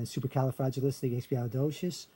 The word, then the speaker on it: supercalifragilisticexpialidocious: all right, istic, okay, but you drop the L in syllable number 7. See, I have syllable 7 here, okay, on supercalifragilisticexpialidocious. Right there, you see on syllable 7, it's li, li, okay? Fragile, fragile, okay, it would be pronounced li there, fragilistic, supercalifragilistic, okay? But up here, it's docious ali xb stick. You don't hear the L.